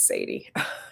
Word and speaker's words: Sade: You should go to her channel though, because I don't want to misquote it, but it's Jarvis and Sadie. Sade. It's spelled like Sade, but it's Sadie.